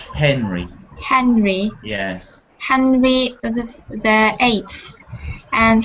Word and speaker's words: Henry: And when you say Henry, can you give him a nice eggy sound, like air, like Henry?